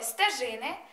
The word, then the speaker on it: стежини: шажини звертаю вашу увагу у слові стежини ставимо наголос на першу и у слові поміж ставимо